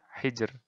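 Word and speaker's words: حِجْر: Nah, ro-nya di akhir ini. Bacanya tipis. Hijr. Sihr. Nah, sihr. Hijr. Nah, kayak gitu. Jadi, tipis saja. Tidak ditebalkan.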